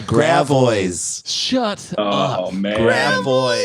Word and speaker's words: Gravois: How do you pronounce it? That's French. Gravois. That's Gravois. What do you think it should be? Gravios. Nope. It's called Gravois.